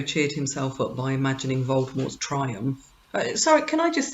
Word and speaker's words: Voldemort: himself up by imagining voldemort's triumph so can i just say some people pronounce voldemort with the t and some without and the friendship would be without yeah it really makes